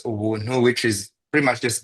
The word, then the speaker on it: Ubuntu: and by the way, in my language, Kinyarwanda, Ubuntu is pronounced as Ubuntu, which is pretty much just getting things for free.